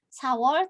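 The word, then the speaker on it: 사월: Bedanya Samwol dia ada miemnya, Sawol tidak ada.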